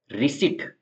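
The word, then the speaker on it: receipt: में कुछ पढ़ते हैं रिट तो रिट में जो है रिट में पी का साउंड नहीं आएगा जिसका मतलब होता है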